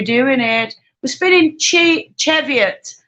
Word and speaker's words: Cheviot: it we're spinning cheap cheviot i call it cheviot a lot of people